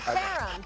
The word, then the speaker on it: Caram: Caram. Good job. It rhymes with harem.